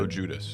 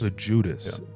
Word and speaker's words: Loguidice: Is that how you pronounce it? Loguidice. Loguidice.